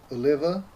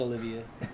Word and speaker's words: Oliva: It is the Oliva. Is that how you pronounce it? Yeah, not Olivia.